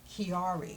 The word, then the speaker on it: Chiari: You notice her t-shirts, and it says Conquer Chiari. I think I pronounced that correctly?